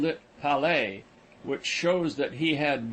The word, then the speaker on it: Palais: I visited the Palais, pronounced Palais, which was burned by the Prussians in 1870.